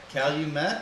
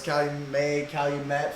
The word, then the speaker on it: Calumet: So, is that how you say it? Calumet? Calumet? I think that's how you say it. That's how I say it. See, for me, it's like Calumet. May, like French? Yeah, like French.